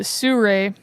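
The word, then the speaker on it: Sirui: It looks like Siriu also, but they pronounce it Suray tripod and head system for like $280.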